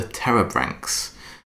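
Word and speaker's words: Pterobranchs: tree on the right so it's got a silent P at the beginning uh blame the ancient Greeks that one but the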